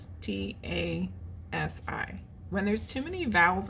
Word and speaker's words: Anastasi: I could just make a whole video of me trying to pronounce things and not succeeding. It's Anastasi. When there's too many vowels in there, my brain cannot literally pronounce it. Anastasi.